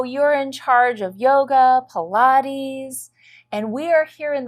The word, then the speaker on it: Pilates: of people know we're learning exact and it's pronounced Pilates she's correct the Pilates education exercises format comes